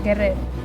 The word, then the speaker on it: guerrer: Llegan Guerrer. En guerrer no pronuncias la última R.